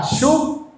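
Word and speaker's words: שׁוּב: Esta palabra retorno eh se pronuncia shuk, es del hebreo 7725, según el diccionario Strong.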